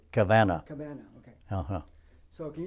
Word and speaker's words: Kavanaugh: do you pronounce it, Kavanaugh? Well, I believe Kavanaugh is the way most people say, but he said Kavanaugh.